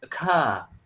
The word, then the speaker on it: occur: And well, this is a little bit hard to pronounce because it's occur.